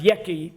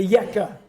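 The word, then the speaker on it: Yekke: Some people have heard it pronounced Yeki, but it's a Yekka.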